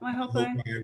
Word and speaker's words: Waihopai: Yeah, the vineyard, you know, is right on the Waihopai. Am I saying it right, Andrea? Yep, Waihopai River.